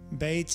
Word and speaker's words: bet: spirit of creation bait bait is pronounced as a bee or a v it means house it